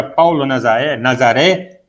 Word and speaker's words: Paulo Nazareth: Então, cada vez que se pronuncia Paulo Nazaré, né, também é uma reverência ao nome.